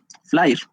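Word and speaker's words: FLAIR: Flyer. Se escribe flir, se pronuncia flir.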